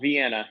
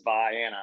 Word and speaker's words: Viana: just very briefly uh Viana is it's not Vienna I know that you're thinking we're mispronouncing it but if you live in the state of Illinois it really is Viana I promise now if you're anywhere else on the face of the planet it's Vienna so now now you